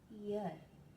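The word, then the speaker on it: heir: एक होता है आपका एन ईयर, यहाँ पे एच साइलेंट है, तो इसमें भी साउंड जो है वो वोवल की आ रही है, इसलिए एन यूज हुआ है।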